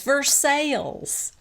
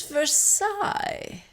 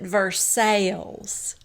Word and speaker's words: Versailles: And Brittany corrects Lisa and says, Versailles. And Lisa goes, but it's Versailles. And Brittany said, yeah, but in Kentucky, we pronounce it Versailles.